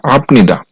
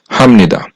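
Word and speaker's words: 합니다: উচ্চারণ হবে মমন হামনিদা এখানে বাচ্চিমে বিউপ আছে আর বাচ্চিমে বিউপ থাকার কারণে এই শব্দটার উচ্চারণ হওয়ার কথা ছিল আপনিদা কিন্তু এই বাচ্চিমের রুলসের কারণে এই শব্দটার সঠিক উচ্চারণ হবে হামনিদা এরপরে হচ্ছে আট নাম্বার রুলস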